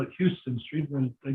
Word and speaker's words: Houston: That's down at the bottom of 2nd Avenue near Houston Street, which most people call it Houston Street, but they pronounce it Houston Street.